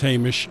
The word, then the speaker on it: Hamish: Um so Hamish uh I know this is your favorite track and it's Hamish. I I've been pronouncing it wrong for two years, but uh that's fine.